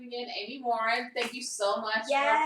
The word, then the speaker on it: Morin: Amy Morin.